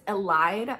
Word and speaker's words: Elide: Because one of my favorite like relationships in this entire book series is actually Elodie and Lorcan. And by the way, I'm only gonna say this once. I know that it's Elide.